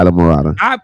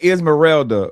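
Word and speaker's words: Islamorada: Wait, that's how you say it? Yeah, Isla Morada. I've been saying Esmeralda for like ever, bro.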